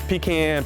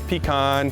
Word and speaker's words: pecan: lot of people wonder how you're actually supposed to say the word pecan and you know the big debate is pecan pecan and the third version i've heard recently is pecan no matter how you